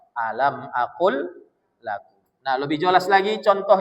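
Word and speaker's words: أَلَمْ أَقُلْ لَكُمْ: Tulisannya lamnya dua. Tapi kalau kita membacanya alam akl lakum.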